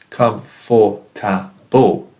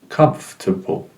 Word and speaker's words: comfortable: many syllables it has it doesn't have four syllables it is not comforable it's only three syllables comfortable and the stress is in the first one comfortable comfortable now let's